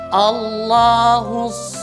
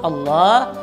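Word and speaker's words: الله: melafazkan lafaz Allah itu dia membaca A-nya dengan tebal, sama dengan waw di atas tadi, dia membacanya Allah, Allah. Nah, ini salah. Karena huruf A itu tipis, tidak tebal. Maka yang benar adalah A, Allahu, cuma lamnya saja yang tebal.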